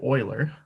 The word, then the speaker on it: Euler: officially introduced to Leonhard Euler, pronounced Euler. If you say Euler, you'll sound stupid, so don't say Euler, say Euler, right? It's important to pronounce these old white guys' names correctly, right?